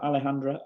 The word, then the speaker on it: Alejandra: be joined by Alejandra Alejandra did I pronounce that Alejandra okay was you did yes you did yes